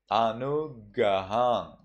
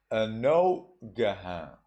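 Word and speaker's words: anuggahaṃ: For example, Anugahang. You see, U is followed by double consonant, GG. When that happens, you read it as O. Anogahang. Anogahang.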